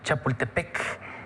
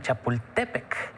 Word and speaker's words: Chapultepec: en náhuatl por ejemplo generalmente pronunciamos chapultepec y en realidad el acento tendría que ser en chapultepec como decimos popocatépetl y